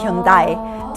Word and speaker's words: Hyundai: So that's why it never got marketed as Hyundai. It got marketed as yundai to make it sound like Japanese. And it's interesting because Japan doesn't pronounce it that way at all. Pronounces it the Korean way.